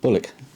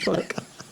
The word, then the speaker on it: Bulwick: Bullock. Oh, I said it wrong again, Bulwick.